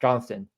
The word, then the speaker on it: Johnston: is no longer Wyatt Johnson's over 5K Johnston I say it wrong every time uh Logan stankoven is